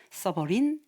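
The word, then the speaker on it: sovereign: 써버린 AI. 다 써버린 이렇게 생각하면 되겠어요.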